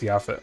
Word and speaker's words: Japhet: Alright, Japhet is pronounced Yaphet.